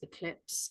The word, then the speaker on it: eclipse: does it begin with it begins with an E an a sound the last sound is a silent e what does it rhyme with oh it rhymes with lips eclipse and how many syllables has it got lips that's two so I've actually